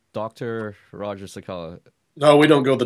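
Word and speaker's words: Roger Cicala: I've got a special guest, Roger Sakella. Did I pronounce that right? Perfectly. Or should I say Dr. Roger Sakella?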